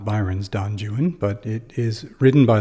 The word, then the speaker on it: Don Juan: name donjuan because um anyone who knows anything knows that it's not Don Jan it's Don Juan or Don Juan uh but that's true